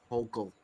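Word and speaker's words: Hochul: Kathy hokel over me hok I'm not saying her name right but if you no that's correct hok that's right say her name and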